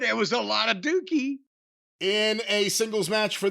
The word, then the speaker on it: Douki: D-O-U, that's Dookie.